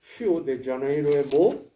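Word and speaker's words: Rio de Janeiro: 휴보 앞에다 히오데자네이로의 예수상. 멋있죠? 제가 여기 브라질에서 사역할 때 한 3~5번 갔었어요. 여기 세계 3대 미학 가운데 하나 아닙니까? 이 히오라는 리오란 말은 원래는 발음이 시자인데 히오데자네이로는 히오란 말은 강이란 뜻이에요.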